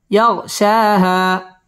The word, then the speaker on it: يغشاها: كلا زبر شا يغشى ها ألف زبر ها يغشاها والليل إذا يغشاها والليل إذا يغشاها ওয়াও ঠোঁটগোল করে উচ্চারণ করতে হবে।